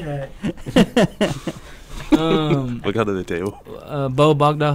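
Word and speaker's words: Bowe Bergdahl: Bo Bogdal, how you say his name? Bo Bergdahl.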